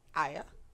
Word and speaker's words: Arya: Why are you not pronouncing the R? It's not Arya.